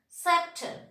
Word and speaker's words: scepter: You know, if the letter C is just, we are writing the letter C just before the I, E and Y. In that case, C is silent. That means letter science, S-C-I-E-N-C-E, science. That means letter C its position is just before the letter I, letter E or letter Y.